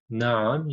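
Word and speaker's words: na'am: Now notice the letters, the sounds of the letters that I am making. Naam, you have to try and pronounce the ain in that word.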